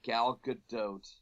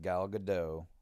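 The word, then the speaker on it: Gal Gadot: uh pronunciation oh Blain it's not galot um so galgadot galgadot now is it now now I believe in the podcast that he sent us which is like a Rooster Teeth podcast they did they they discuss it being pronounced galado not gadoo not gyote not galad do not you know anyway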